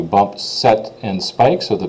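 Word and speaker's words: sept: said this was CE this is set like in volleyball you bump set and Spike so the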